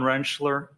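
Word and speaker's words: Rentschler: Could you please state your name for the record and spell it? Dr. Wrenchler.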